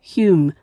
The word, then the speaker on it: Home: Edinburgh, to Joseph Hume, spelt Home, but pronounced Hume, of Churnside near Duns in Berwickshire, an advocate, and his wife Catherine Faulkner.